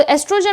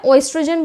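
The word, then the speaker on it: oestrogen: देखो, और एस्ट्रोजन में मैंने ओ नहीं लगाया, ओएस्ट्रोजन भी होता है, एस्ट्रोजन, both are the correct, pronunciation और स्पेलिंग दोनों ही करेक्ट हैं आपके।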